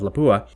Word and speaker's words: Lapua: founded in and named after the town of lapua i think i'm pronouncing that right and this group this lapua